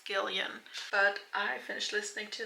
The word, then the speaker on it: Gillian: gond Girl by I I think I pronounced her name Jillian but apparently it's Gillian but I finished listening